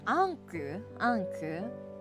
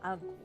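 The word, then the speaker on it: Ankou: I honestly, Xian-kun and Anku, in the English translation, his name is spelled A-N-K-O-U, Anku. It's more, it's called Anku in Japanese. Anku-kun.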